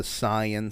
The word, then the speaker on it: Saiyan: to the s the saiyan saga or the saiyan saga is the correct way to say the science